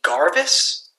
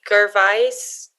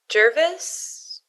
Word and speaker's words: Gervais: john cummerford ricky garvis did you just say ricky garvis yeah is that is that not how you say his name is it like ricky gervais jervis sure man otterbein will give anyone